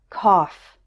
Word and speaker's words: cough: There's one word where it's pronounced off, and that is the word cough.